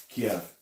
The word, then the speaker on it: Kiev: Yeah, that's how you pronounce the name of that city, Kiev.